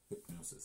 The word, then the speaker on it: Hypgnosis: Hypnosis, see? Yeah. Now, these guys, I'm and pretty it's spelled sure...